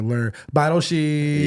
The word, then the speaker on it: Lehr Beidelschies: Give it up for Lehr Beidelschies.